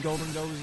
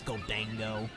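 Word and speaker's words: Gholdengo: I have 2 Golden Goes as well. Does anyone else not really like it how some people pronounce Golden Go as Goldango? Dang, Golden Go, how you doing? It's just Golden Go.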